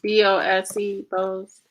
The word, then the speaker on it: Bose: Now his name is spelled JAGADISH. And it's Bose, Bose. Yeah.